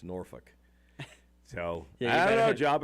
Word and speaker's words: Norfolk: Yeah, Norfolk is definitely not Norfolk. It's Norfolk.